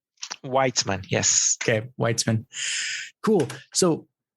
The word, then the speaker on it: Weitzman: now I have a reference yeah so Chiran whitesman whitesman because that's not what I would have said whitesman yes okay whitesman cool so then um so